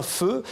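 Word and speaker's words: phở: il y a donc l'incontournable feu ça s'écrit paix à chaud on le voit beaucoup écrit dans le xiiie arrondissement de paris avec l'eau et l'accent alors on dit bien feu et figurez-vous je pense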